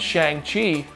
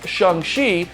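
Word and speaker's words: Shang-Chi: did you know that if you're american and you had been pronouncing semulu's new movie with your american accent calling it shang chi you were pronouncing it wrong feige pronounced it in what i'm pretty sure is the correct way as sheng shi during the presentation while we continue to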